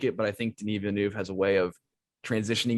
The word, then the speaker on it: Denis Villeneuve: Oh, and Ben, by the way, thank you for pronouncing Denis Villeneuve correctly. I declared him my favorite director for a full year while calling him Dennis Villanova.